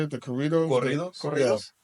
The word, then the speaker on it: corridos: Corridos. Corridos. It's Yeah. like if you say cocoon, Cocoon. like corridos. Corridos. Yeah, you just roll that. Drah. Corrido. Yeah, corridos. Corrido. There you Corridos.